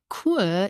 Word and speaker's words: cours: Cours is spelled C-O-U-R-S, but we don't pronounce the final S. And yes, we pronounce it cours.